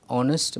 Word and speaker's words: honest: correct form and similarly whether it is a or an honest its an honest because her is silent here choice of will or